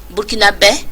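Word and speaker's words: Burkinabè: Burkinabés, c'est en langue fulfulde, Burkinabés, pour bien prononcer.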